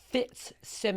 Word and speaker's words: Fitzsimmons: And they don't And the Fitz is soft. Well, you got to say Fitz. Simmons. That's what I do. I go Fitz. And I take a pause. Simmons.